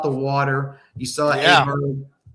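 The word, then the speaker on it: Åberg: Aberg or Oberg or whatever they pronounce it. His Oberg, name. yeah, it's Oberg.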